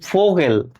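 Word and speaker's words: Vogel: যেমন ফোগেলগে অর্থ পাখি এফ এর মত উচ্চারিত ঠিক আছে ফাও এখন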